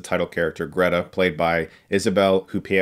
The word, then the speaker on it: Isabelle Huppert: character Greta played by Isabel coupie oh I guess is how you say her name and I'm trying to